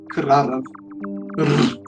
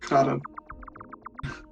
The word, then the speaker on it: Krarav: like a much harder R, like the Slavic method of doing it. Krarav. Yeah, I can't roll my R's too well, but that's how you would pronounce it. Krarav.